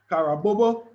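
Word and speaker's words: Carabobo: of the um harabo kara bobo i think that's how you you pronounce it kara bobo yes battle that took place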